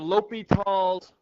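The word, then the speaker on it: L'Hôpital: today's video we'll look at indeterminate forms and l'hopital's Rule that's how that is pronounced l'hopital's rule what an indeterminate form is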